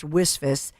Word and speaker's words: WSFS: WISF, WSFS, we stand for service, pronounced WISF.